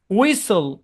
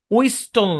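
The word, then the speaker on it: whistle: ফ্যাসেন ক্রিসেন বুঝছেন তারপরে দেখেন শব্দের শেষে এসটি এলই থাকলে টি সাইলেন্ট যেমন ক্যাসল ক্যাস্টল না হাসল হাসল না উসল উস্টল না বুঝছেন আর ডবলিউ এইচ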